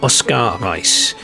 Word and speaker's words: Oskar Reiss: And his real name was actually Oskar Reiss, or Oskar Reiss in the German pronunciation.